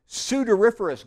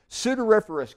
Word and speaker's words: sudoriferous: sound kind of alike I think sweat has odor soo door sounds a little bit like odor sudoriferous glands are the sweat